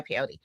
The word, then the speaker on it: peyote: And then you threw up like you tried peyote or something. Is that how you say it? Is it pod? Pey. Yeah, peyote.